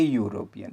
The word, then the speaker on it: European: Example, an European, not an European, a European, because here E is pronounced as U.